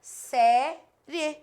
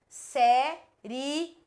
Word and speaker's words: série: Essa aqui tá errada. Porque eu troco a posição da sílaba tônica e eu não posso. E Leite, como é que eu sei? Porque aqui tinha acento, ó. E tem acento, eu não posso trocar. Se é outra sem acento, eu até posso me deixar na dúvida. Mas nesse caso eu não posso porque a sílaba tônica está aqui.